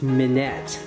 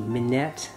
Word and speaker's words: Minette: have here is a I think it's pronounced mid net see if I can get a close-up of that hopefully you can read that this little print mi n et te Manette mean yet it's not French it's actually Japanese this